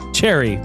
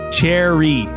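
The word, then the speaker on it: chary: Cherry.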